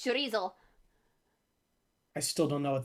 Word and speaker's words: chorizo: it's good of course when i say charisse nobody knows what i'm talking about because that's just how you say it around here it's chorizo i still don't know